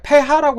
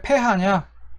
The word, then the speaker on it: pH: 그래서 pH 농도라고 안 하고 이제 생물 시간에 생물 선생님이 폐하 농도라고 하는데, 왜 폐하냐? H는 이제 독일어식 발음이고, P 역시 폐 역시 이제 영어의 P를 독일어식으로 발음을 한 겁니다.